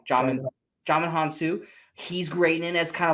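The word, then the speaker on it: Djimon Hounsou: first name because i would say it wrong john hansu he's great and that's kind of like the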